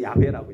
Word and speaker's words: 야훼: 이게 한글 번역인데 원문으로 하면 야훼라고도 하고 여호와 이렇게 뭔가 좀 발음이 좀 부정확하긴 한데 우리는 이제 공통적으로 그냥 여호와라고 하고 또 우리 그 순복음에서는 야훼라고 이제 표현을 하죠.